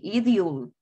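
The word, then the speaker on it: it'll: Miren, si ustedes escuchan, si ustedes ven aquí a la par de las dos, a la par de la pronunciación, tiene dos sílabas. It you, it you, it you, it you, it you. Tiene dos. Si ustedes escuchan chill, solo se oye una.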